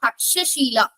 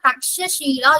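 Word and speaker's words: तक्षशिला: சோ பாருங்க, Taxila R தக்ஷஷீலா எப்படினாலும் சொல்லிக்கலாம். டாக்ஸிலா அப்படிங்கிறது இங்கிலீஷ்ல அதை ப்ரொனவுன்ஸ் பண்றது. ஒரிஜினலா சான்ஸ்கிரிட் வேர்ட் என்ன அப்படின்னு பாத்தீங்கன்னா தக்ஷஷீலா யூனிவர்சிட்டி.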